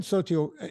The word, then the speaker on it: Sotile: Sotil is spelled Sotile.